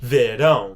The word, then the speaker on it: verão: You're going to pronounce it more like a nasally sound. If you pronounce it, it's not going to make a regular A. You're not going to see it like that. It's going to be verão because on top of the letter A has an accent.